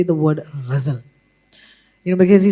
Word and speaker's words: ghazal: मेरे my dad actually taught me how to say the word ghazal, you know, because he said कि अगर आप